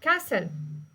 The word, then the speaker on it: castle: نقولوا listen okay listen T يكون silence لما يكون قبله ال S okay like Christmas okay like castle so دائما يكون تي silence.